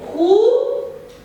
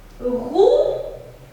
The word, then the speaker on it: roues: Des roues. Alors ici, il y a deux lettres qu'on ne prononce pas.